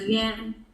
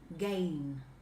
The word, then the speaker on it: gain: đạt được là gan. gan. Gan luôn ha, gan. Cái này đọc là gain. Ok, gain.